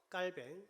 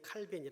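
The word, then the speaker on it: 칼뱅: 개혁자 라고 하면 부터 깔 밴 흔히 칼빈이 라고 하는 프랑스 발음이 깔 밴 입니다 튜빙 군이 이렇게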